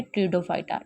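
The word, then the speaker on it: Pteridophyta: ये basically P जो है इसको साइलेंट, ये लिखने में आएगा लेकिन बोलने में साइलेंट हो जाएगा, तो इसे क्या कहेंगे, ट्रिडोफाइटा।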